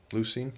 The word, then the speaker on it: leucine: Lucine. Lucerin. Lysine. No, I'm pretty sure it's lucine.